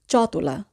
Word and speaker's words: ciotola: এখানে আমরা যদি চতলা বানানটির দিকে খেয়াল করি তাহলে দেখব চি ই অ, এখানে চি ই অ এর উচ্চারণ হবে চ, তাহলে আমরা উচ্চারণ করব চতলা।